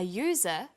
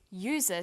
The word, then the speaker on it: user: an umbrella but a user because user sounds like it begins with a y a and an are